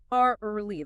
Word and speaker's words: early: Early. The correct pronunciation is just two syllables.